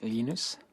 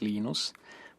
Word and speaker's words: Linus: Torvalds came along glennister linus what's exactly your preferred pronunciation when I speak Swedish it's heinous when I speak Finnish it's Lee knows when I speak English its Linus and I really don't